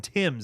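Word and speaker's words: Thames: Mason Th Mason Tims is how you pronounce that. Not Ths. I was I've been saying it wrong for so long.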